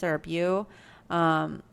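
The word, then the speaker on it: Beau: members, I think it's Bay is how you would pronounce it, or Bew. I'm not really sure. It's one of those words that I'm probably going to mispronounce. I think it's Bo.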